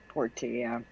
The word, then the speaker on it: Portia: Porsche spider, but it's spelled more like Portia. Portia.